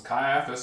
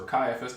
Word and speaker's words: Caiaphas: was the father-in-law of Caiaphas who was high priest that year now it was Caiaphas or Caiaphas depending on how you prefer to transl to pronounce it who was advised who